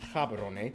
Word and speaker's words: Gaborone: largest city is gaborone if you speak setswana it's pronounced haberone located close to the